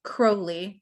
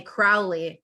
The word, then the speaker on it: Crowley: when he met them my name is Crowley rhymes with holy my enemies call me Crowley but that's fouly so